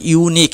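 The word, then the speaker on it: unique: আর ই এবং ইউ এর উচ্চারণ যদি ইউ মত হয় তাহলে আমরা যেমন ইউনিক এখানে উচ্চারণটা প্রথম দিকে ইউ নিক ইউ মত হচ্ছে তাই আমরা এ বসাচ্ছি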